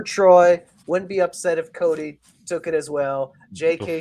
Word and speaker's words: Coda: Every time you say Cody, I think you're mispronouncing Coda. I was like, does he think there's an I at the end or something?